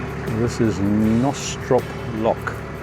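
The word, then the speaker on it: Knostrop: This is Nostrop Lock. Assume the K is silent.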